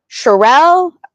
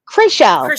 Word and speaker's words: Chrishell: And then we get the knock on the door, and it's Sherelle, or I always say her name so bad. Sherelle. I did say it right, didn't I? Chrishell. Thank you.